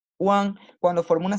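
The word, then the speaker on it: wán: Fíjense, a ver, primero se hace una U corta y ligera y luego una AN larga y enfática. One, cuando forma una sílaba por sí misma sin inicial, se escribe W-A-N, como está acá.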